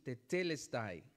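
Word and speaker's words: τετέλεσται: La palabra en griego se pronuncia algo así, tetelesti.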